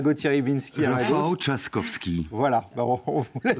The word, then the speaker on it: Rafał Trzaskowski: Alors je vais demander la prononciation exacte à Gauthier Rybinski. Rafał Trzaskowski.